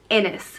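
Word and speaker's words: Inis: The Irish word for island is Innis, which is spelled I-N-I-S.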